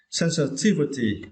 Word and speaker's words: sensitivity: For the next word, we need to understand the word sensitivity. Yeah, it is now, right? And for this word, you need to stress the third syllable, T, okay?